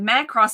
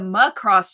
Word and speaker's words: Macross: Sometimes that Doctor 22, Omar pronouncing it Macross instead of Macross triggers me. Macross. What? It's actually Macross. I never knew. Macross, baby. You gotta add that American A.